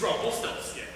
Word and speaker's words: Rumpelstiltskin: Okay, it rhymes with crumble milk tin. Your name is Nicholas. You're the dumbest person alive. My name is Rumpelstiltskin.